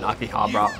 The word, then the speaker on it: Akihabara: that go on in Akihabara aki hot but akiba i can't pronounce the full name right now it's Akihabara I took jack and